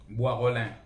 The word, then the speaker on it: Boisrolin: Me cuesta mucho pronunciar el apellido. dímelo. Bois-Rolland.